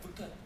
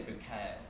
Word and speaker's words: Foucault: you know, I think Foucault, right? we were in England last year, and they all say it like he's French, like Foucault. I'm from Maryland, so I'm going to say Foucault.